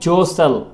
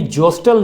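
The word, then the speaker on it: jostle: जोसल, जोसल। इसका T silent है, यानी जोस्टल नहीं पढ़ा जाएगा बल्कि जोसल, जोसल।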